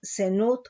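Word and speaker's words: זנות: Nos dice aquí del hebreo 2184, fornicación, zenut con acento en la U, adulterio, infidelidad, idolatría, rebeldía, fornicación, fornicar.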